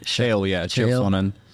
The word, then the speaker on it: Chael: Chael, yeah, Chael Sonnen.